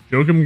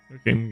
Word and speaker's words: Joachim: For some reason, every time I see that name, I think of doing like the Germanic pronunciation which would be Joachim, even though his last name is Gunther, which is clearly German.